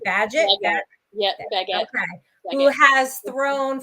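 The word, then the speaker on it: Bagent: Baggett.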